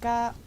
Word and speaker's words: Ghana: Theirs is G-H-A-N-A. Ghana? Ghana? Is that how you say it then? Ghana. Ghana? Alita's like, Ghana. Okay. It's Ghana, yeah.